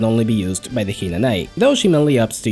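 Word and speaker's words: 比那名居: Nai, and by extension Hinanai, contains the kana wi, which is not used anymore in current Japanese and is simply pronounced as I when encountered.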